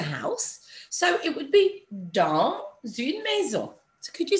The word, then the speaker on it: dans une maison: And normally, as you know, we don't pronounce the last letter of a word, but in this instance, because the S runs into a vowel, you would hear it.